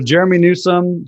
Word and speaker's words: Jerremy Newsome: So Jerremy Newsome, just the way it sounds, Newsome.